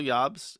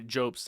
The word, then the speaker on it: Jobst: So um considering his litigation history, considering certain threats that Carl Jobs had shown, sorry, Jobes, I forget that he he pronounced his name wrong.